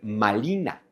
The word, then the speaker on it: Malina: Entonces, ahí donde los españoles dicen marina, los hablantes del nahwatel dicen malina. Malina.